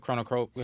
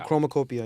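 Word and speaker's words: Chromakopia: So, I'm almost done with the Chronocopia. How you say it? Chronocopia? Chromacopia, yeah.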